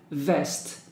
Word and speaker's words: vest: my clothes socks pants vest remember letter V you have to bite your lip like a vest trousers jeans t-shirt skirt